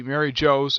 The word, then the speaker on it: Mary Geoise: through the area and see Mary Jo's and the way it's spelled it's quite bizarre Jose apparently is spelled g EO ISE apparently my microsoft word